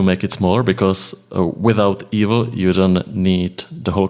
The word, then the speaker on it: eval: you can do eval is it is it pronounced evil like evil eval I don't know yeah for for us it's evil we call it evil so you can turn